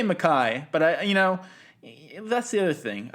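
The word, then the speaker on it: MacKaye: How do you pronounce it? I say Mackay, but that's the other thing.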